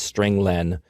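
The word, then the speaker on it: strlen: nine i pronounced its string len because it means string length it returns the number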